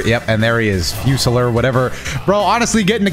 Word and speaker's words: Fusilier: I can tell that's Fusili Dragon, man. I can already tell. I literally can already tell. It's pronounced Fusilier Dragon. It's French, number one.